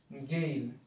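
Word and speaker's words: gale: প্রবল বাতাস আছে গেইল জি এ এল ই গেইল গেইল মানে এখানে প্রবল বাতাস প্রবল বাতাস বা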